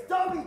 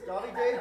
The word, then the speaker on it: Davide: It's say it right. It's Davide. Galileo. My name is Davide.